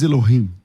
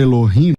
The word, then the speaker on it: Elohim: Você, ao invés de você falar Elohim, você falou Eloim. Aí eu queria saber o porade. Ah, eu vou falar assim porque não posso pronunciar. Ah, Elo, depois rim eu não posso.